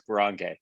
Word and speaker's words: Boronkay: It's Boronkay, but close enough.